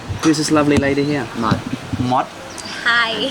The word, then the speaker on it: Mod: Mod. Mod. Hi. How do you spell that?